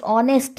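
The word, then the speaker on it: honest: शी इज एन ऑनेस्ट, एन ऑनेस्ट, ऑनेस्ट लगेगा यहाँ, ऑनेस्ट के साथ ओ वाला प्रोनाउंसिएशन आ रहा है, तो इनडेफिनिट आर्टिकल एन आएगा।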